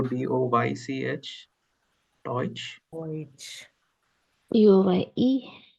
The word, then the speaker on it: Deutsch: So if you write Deutsch in the pronunciation in English, right, it would go DOYCH.